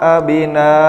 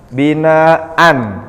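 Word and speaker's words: بِنَاءً: lakumul ARD Firas wasama Bina sama-sama Pak Bu di sini tertulisnya binaan ketika Mad ketika tanwin fathah itu diwaakfkan maka membacanya bukan Bina tetapi Bina dua harakat Anya nah kemudian Bagaimana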